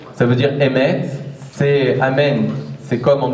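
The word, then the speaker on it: אמת: Le Nun est trop difficile à prononcer, Nun Nofelet. Qu'est-ce qui reste? Emet. Emet, ça veut dire vérité au féminin, et Amen, ça veut dire vérité au masculin.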